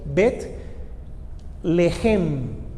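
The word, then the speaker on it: בית לחם: En hebreo se escribe Bet, B larga E-T, Bet Lehem. Si uno la lee de corrido sería Betlehem. Y cuando usted habla con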